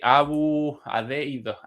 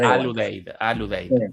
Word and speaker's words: Al Udeid: En la base precisamente de Qatar, la base militar aérea de Abu Udeid. Udeid, mal pronunciada. Al Udeid.